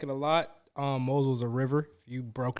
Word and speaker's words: Mosel: It's a Moselle. Is that right? How you pronounce it? Mosel. I always say it wrong.